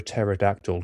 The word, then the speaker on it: pterodactyl: So, this is for um our client Why can't you hear a pterodactyl going to the bathroom? Why? The P is silent.